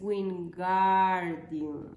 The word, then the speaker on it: Wingardium: el libro le dice es wingardium pronuncia Gar más claro a énfasis en la